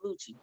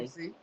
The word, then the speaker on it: Lucie: See, I said Lucy, but they told me it was Lucci. It's Anyway, Lucy.